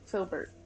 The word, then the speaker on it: Filbert: welcome Spyro shyro no it's got to rhyme with Gilbert sh shilbert no we already had a sh because this is shilbert that I'm playing oh so you are uh Philbert filbert gotcha well filbert can